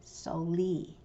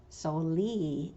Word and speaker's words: soli: And Mountain Maidu puts the stress on that last E. Concal usually does it the other way around. Soli in Concal for song, soli in Mountain Maidu.